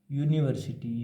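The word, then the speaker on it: university: अगर इसको बोल कर देखें तो इसका साउंड आता है यू। यूनिवर्सिटी यू यानी और यू बनता है अपने वाई से।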